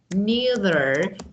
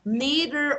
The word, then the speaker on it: neither: So you should say neither do I. Neither or neither. So both pronunciations are acceptable and usable.